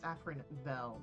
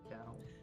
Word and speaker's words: Afrindel: It's Afrindel, not Del.